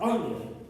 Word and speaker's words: Euler: Europa, en alemán se pronuncia Europa. Entonces, este no es el apellido del matemático Euler, se apellidaba Euler.